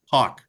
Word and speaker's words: Hawk: your last name again Hawk Hawk HK okay Hawk right like awk right that's exactly right like like the hawk of Justice there you go now